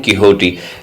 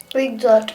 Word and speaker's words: Quixote: QUIXOTE, this is किहोटी। तो इसको हम पढ़ते हैं किहोटी, इसको क्या नहीं पढ़ेंगे हम? क्विकजॉट।